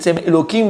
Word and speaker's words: Elohim: Elokim Baroto. Elokim, on va dire le nom de Dieu vraiment, on ne le prononce pas. C'est Elohim, je dis une fois.